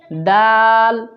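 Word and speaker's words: دال: খ তারপর দাল দাল দাল সহজ শুধু দাল বলে উপরে জিহ্বা নিয়ে লাগাতে হয় দাল দাল তারপর দাল দাল দালটা একটু ভিন্ন।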